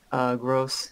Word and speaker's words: Gross: Well, I always say it so, because you told me just to say gross. Yeah, just say gross. It's fine. But I'm like, no, I want to sound like I'm German.